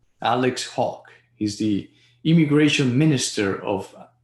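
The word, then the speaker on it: Hawke: yes we do alex how will you pronounce is as saying hawk alex hawk he's the immigration minister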